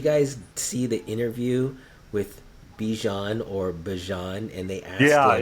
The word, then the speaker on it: Bijan: see the interview with Bijan or Bajan, and they asked him how he pronounces his name, and it's not Bijan, it's Bajan.